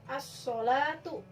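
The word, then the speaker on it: الصلاة: Contohnya di sini as-sholatu. Nah, di situ so, lamnya ada wujudnya tapi tidak terbaca, dan kata setelahnya ada tasydid, as-sholatu.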